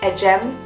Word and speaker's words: Ecem: The C in my name is pronounced like a J because the C in a Turkish alphabet is said as a J. That's why it's pronounced Ecem, but written Ecem.